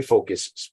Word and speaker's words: Phocus: starts with a pH my focus starts with a pH I grew up in a generation where you used to say a word fat and it had nothing to do with someone's size it's spelled pH and I said this